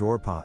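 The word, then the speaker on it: Orpah: her own production company Winfrey was named orpa after the biblical character in The Book of Ruth on her birth certificate but people mispronounced it regularly in Oprah stuck as a child Oprah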